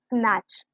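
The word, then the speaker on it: snatch: कि बैच, बैच, okay, स्नैच, खींच लेना, स्नैच, ओके। तो इस केस में हमारे पास टी साइलेंट है यहाँ पर, तो कभी भी एंडिंग में TCH आए तो उसमें टी साइलेंट होता है, ओके।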